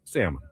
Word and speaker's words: salmon: heard salmon, but salmon. I'm sure they could have pronounced it differently in other parts of the country. Salmon. It is salmon. Salmon. The L doesn't do anything at all.